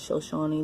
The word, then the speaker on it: Shoshone: Okay, these are, I'm not sure if I'm pronouncing it correctly. Again, I believe it's Shoshone. I believe it's pronounced as Shoshone.